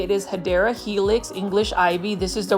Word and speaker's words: Hedera helix: As you can see here, this is our favorite Hydra Helix. Or the correct way to say it is Hedera Helix, English Ivy.